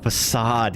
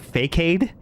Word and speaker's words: facade: Facade. Yeah, facade. Yeah. How did you pronounce it? Fakeade?